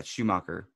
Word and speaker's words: Schumacher: Yeah, Schumacher.